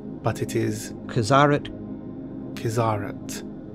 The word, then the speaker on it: Qizarate: religious body there are many ways people may pronounce it kids are at Kizza rate but it is userid his aren't a Korean big scene is